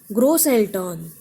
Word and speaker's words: Großeltern: Großeltern, Groß. Three syllables, stress is on groß.